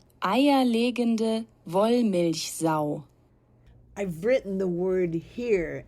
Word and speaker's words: Eierlegende Wollmilchsau: The word is pronounced Eierlegende Wollmilchsau.